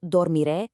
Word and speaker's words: dormiré: And that brings us to dormiré, I will sleep. Let's break down that pronunciation together real quick. dor mi re. Once again, you really want to lean into that strong accented final syllable.